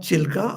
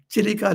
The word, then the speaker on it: Chilika: know that is called chilka or chiliga chilika lake it is called by the name and it pronounced in in conversations many people say chilka lake it doesn't matter this chilika lake is